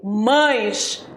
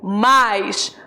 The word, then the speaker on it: mais: atenção na minha pronúncia eu não falei mães eu falei mais não existe mães existe mais devo pronunciar mais para